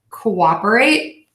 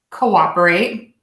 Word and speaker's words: cooperate: at least we have the letters Oh Oh pronounced in two different parts and we see this a lot when we add the syllable Co to a word or when we have two words put together and she's sort of a compound noun so we have cooperate cooperate and micro organism micro organism if you listen carefully